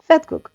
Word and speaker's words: vetkoek: Even though you spell it with a V, you pronounce it like with an F. Yes. Vetkoek.